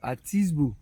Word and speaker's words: Atisbo: Okay, you pronounce it. Atisbo.